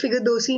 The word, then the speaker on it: Figadosi: It is pronounced as Figadosi in Vipine.